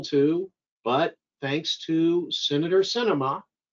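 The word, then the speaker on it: Sinema: but thanks to senator cinema it's pronounced cinema like a movie it starts with an s she's a lot of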